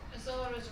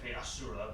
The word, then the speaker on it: Asura: Azura's Wrath. I think. That's how it's pronounced. Priestess. It's actually pronounced Asura, but yeah.